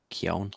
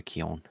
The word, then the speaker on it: Keown: I can never pronounce his last name. Keown. Keown. Yeah, that's how do you say Keown? Yeah. Yeah, Keown.